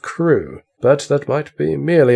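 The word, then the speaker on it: Crewe: difference in the name madame pascal pronounced it as if it were keru instead of crew but that might be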